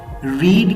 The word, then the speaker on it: read: भी यही स्पेलिंग है, लेकिन प्रोनाउंसिएशन में डिफरेंस है। रीड की फर्स्ट फॉर्म को रीड प्रोनाउंस करते हैं, सेकंड को रेड और थर्ड को रेड, लेकिन तीनों के स्पेलिंग सेम है।